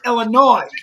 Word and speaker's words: Illinois: is that's number one you don't pronounce D S at the end of Illinois H and you become I rate when people do you live in Illinois no it's Illinois not so true absolutely